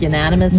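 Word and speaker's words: Euonymus: Eudaemonous? Yeah, you like unanimous? Yes, Not unanimous. Maybe it is, I don't know. Yeah, mine is the winter creeper. Unanimous. Yes, that's how it's said.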